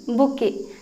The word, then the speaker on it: bouquet: Spelling है BOUQUET, बुके। टी यहाँ पे साइलेंट रहता है, ओके, इसलिए इसे बुके कहते हैं, अ बुके ऑफ फ्लावर्स।